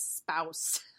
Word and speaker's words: SBPOWS: She pronounces SBPOWSs as spouse because she claims her husband is the source of most of her worry.